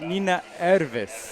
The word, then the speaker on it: Nina Ervis: Nina Ervis. Yes. Was the last blocker to get back. I was going to mispronounce the W, and then I was like, nope, that's a V sound in Finnish.